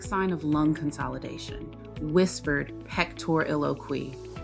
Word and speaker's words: pectoriloquy: Whispered pectoriloquy. Pronunciation.